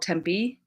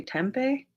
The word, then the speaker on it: Tempe: Like for example, in Arizona, there's a town called Tempe. It's not how that word should be pronounced. Like it's a Spanish word, I believe. I think it should be Tempe.